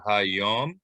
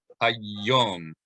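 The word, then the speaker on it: היום: So normal pronunciation, more mainstream, would just be hayom, but you're going to say hayom, hayom. You hit that yud hard.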